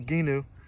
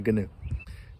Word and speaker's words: Gheenoe: It's a Gheenoe.